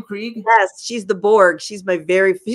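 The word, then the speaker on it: Krige: ciphers Miko Hughes I love Miko Hughes Alice Krieg is that how you pronounce her name Craig yes she's the Borg she's my very she's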